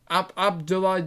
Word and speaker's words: Abdoulaye: I can never pronounce his first name. Abdullah. Abdoulaye Doucouré, is it? Yes.